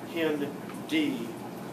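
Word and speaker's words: HindIII: and species that strain look down here at hindi three hemophilus that's the h influenzae that's the i n strain d and that tells you how to pronounce these two not hind but pin d and it was the third one found in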